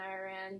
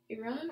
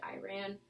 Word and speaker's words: Iran: see that every day Iran Iran Iran Iran let me say that I grew up under George Bush so I sometimes say Iran which I'm pretty sure is the incorrect way to say okay we